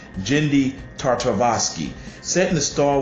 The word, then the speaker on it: Genndy: series adapted and directed approved and co-written by Jim I'm so sorry I said his name wrong genndy tartakovsky set in the Star Wars universe produced